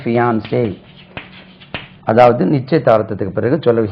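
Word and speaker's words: fiancé: இது first n எடுத்துருங்க fஐ ஏன் சிஇ இதுக்கு உச்சரி பியான்சே இதான் வுட் பி ஹஸ்பண்ட் ஒரு நிச்சயதார்த்தம் முடிஞ்ச பிறகு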